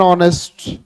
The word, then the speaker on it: honest: Because here H is silent and it is giving the vowel sound.